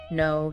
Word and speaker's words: know: Your notes give some classic examples, ones learners often stumble over, like the silent K at the start of words like knife, no, knee.